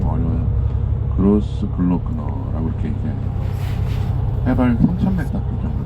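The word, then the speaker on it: Großglockner: 이 오스트리아 같은 경우에는 이 가장 높은 알프스에 갖고 있는 산봉우리가 좀 발음하기가 좀 어려워요. 그로스 글로크너라고 이렇게 얘기해요.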